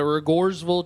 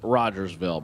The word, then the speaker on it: Rogersville: I'm pretty sure it's pronounced Rogersville, but the locals tell me otherwise, so I'm going to follow the locals to be respectful, but I think they're playing a joke on me.